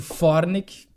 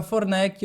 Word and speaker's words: Forneck: Bem, como foi dito, Fornick, lá na minha terra. Tem que chamar de Fornick. É do alemão? É do alemão. Toda a primeira sílaba dos sobrenomes é a sílaba tônica.